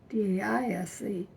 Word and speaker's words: Daise: And when he came out there, he put an I in it, D-A-I-S-E. And all of Granddad's descendants, we pronounced it Daise. But whenever he talked about it, he'd call it Daise.